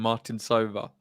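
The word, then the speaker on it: Martincová: It was making me laugh listening to your stream calling them Martin Sova. Yeah, you've clearly been told that that's how you say it.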